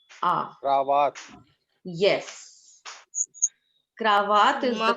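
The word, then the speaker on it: cravate: Wherever we have this a, what is the sound? Ah. Ah. Cravat.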